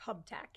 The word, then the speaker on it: Uptack: Hubtac, yes.